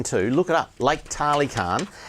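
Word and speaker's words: Tali Karng: Lake Tarly Khan. It's spelt T-A-L-I, and then the second word Khan is K-A-R-N-G.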